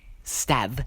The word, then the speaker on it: Stav: Would you pronounce it Stave or Stav? Personally, even if you've already heard me say Stav, just look at it and think, I'd say Stave.